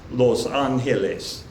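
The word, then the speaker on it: Los Ángeles: Some of them are going to be a little bit different than the English pronunciation, such as Los Angeles in Spanish, Los Angeles.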